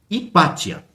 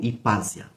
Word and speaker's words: Hipátia: Hipátia ou Hipásia, né? Se escreve Hipátia.